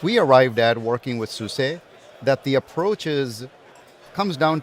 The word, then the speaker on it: SUSE: Talk to me about the relationship with SUSE and how that plays into it for you.